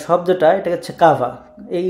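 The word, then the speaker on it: kawa: এটার যে শব্দটা, এটা হচ্ছে কাভা, এই উচ্চারণের সময় কে কে কেই বলে ওরা।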